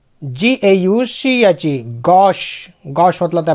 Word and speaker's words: gauche: GAUCHE, Gosse.